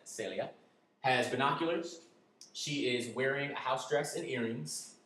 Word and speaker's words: Celia: Number one, I said that this woman, Celia, in Spanish we pronounce that Celia, has binoculars.